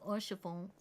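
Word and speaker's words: Haurchefant: You gotta say it like Alphinaud does. Orchifant.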